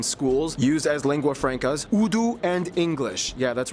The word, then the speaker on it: Urdu: and taught in schools, used as lingua francas, Urdu and English. Yeah, that's right, it's pronounced Urdu, not Urdu.